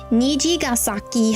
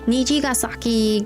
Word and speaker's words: Nijigasaki: Nijigasaki High School Club. Yes, that one. Nijigasaki Gakuen. Yes. Even non-fans know you have to pause in between.